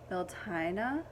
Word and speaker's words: Beltane: to call it um i've heard it pronounced quite a few many different ways i think one was like veltana or something like that which i thought was really pretty but belting just sounds the best of me so beltane